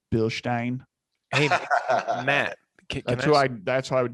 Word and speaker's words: Bilstein: to i'm going to pronounce it in its proper german ways of bill stein matt that's why i